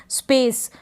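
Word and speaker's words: space: स्पेस, स्पेस यानी स को थोड़ा खींच के बोलेंगे, लास्ट में ई है इसलिए भी, और ई का हम प्रोनाउंसिएशन नहीं करेंगे, स्पेस।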